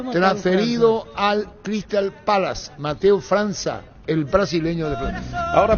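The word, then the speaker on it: França: Mateus Franca se pronuncia. Sí, Franza. Franza.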